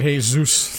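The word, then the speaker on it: Jesús: all right all right hey zeus thank you for that man don't call him jesus i don't think he'll mind that is actually a correct pronunciation of the name so i am in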